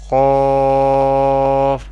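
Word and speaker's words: قاف: And qaf always pronounce with heavy voice or thicker voice because Qaf is also a mustalia letter.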